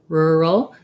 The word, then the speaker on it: rural: videos for that word so it's an er sound starting with an r and then my dark l so really challenging super